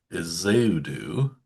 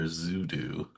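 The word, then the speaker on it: Ezeudu: Uh they traded a seventh round draft pick in 2028 to pick up Joshua Isudu or Zudu. Zudu. Yeah, as uh I think it's pronounced, but I'm not sure.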